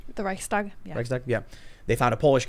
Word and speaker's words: Reichstag: Do you know about Nazi Germany, The burning of the how do you pronounce it, Reichstag? The Reichstag, yeah.